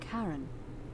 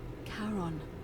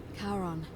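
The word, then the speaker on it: Charon: The name you heard wasn't Karen. It was C H A R O N. As in Karon, the fairyman of the dead. Karon, who in exchange for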